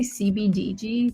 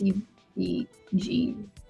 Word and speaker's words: CBG: I always say CBDG, but it's CBG.